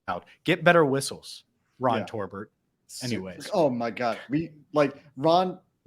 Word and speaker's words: Torbert: Torbert with an R. But you could probably get his name wrong. I thought you said Tolbert. Toll booth. My it's bad. Like Torbert. Like tore up confetti.